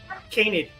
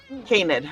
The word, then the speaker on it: canid: Canid. Canid.